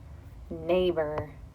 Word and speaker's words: neighbor: or talk about is neighbor this e i makes the a bur and it actually makes the long a sound neighbor so we know a consonant